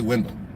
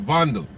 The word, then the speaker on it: Wendell: my name is Wendell and Trinidad you say Wendell oh you'll say window so Wendell is actually a German name and in German it's pronounced vandu the name actually means